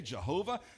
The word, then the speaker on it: Jehovah: And we know that in some places it's Jehovah, and we pronounce it for us with a J, Jehovah.